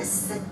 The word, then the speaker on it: Sikh: gurdwara which is their we call them sikhs but they self identify sick is how you pronounce it um and we have